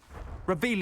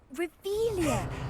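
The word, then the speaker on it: Revelio: Where are you, Revelius? You're saying it wrong. Revealia.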